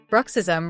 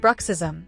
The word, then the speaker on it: bruxism: Bruck rhymes with truck. Sis, like the word sis. Sounds like the end of rhythm. Origin. The term bruxism originates from the Greek word brychion, which means to gnash the teeth.